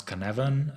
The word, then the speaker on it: Cynefin: more about that um pronounce cannavan sometimes people pronounce it differently there is no f what is cannabin and